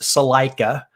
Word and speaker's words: Salajka: And when you see his last name, it is pronounced Salajka.